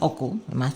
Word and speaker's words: Hochul: So to the NYCHA chair, Greg Russ, to the mayor, Adams, and to the governor, Hochul.